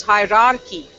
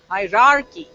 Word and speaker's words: hierarchy: about this hierarchy hierarchy but there are two ours it's hierarchy hierarchy righty and this one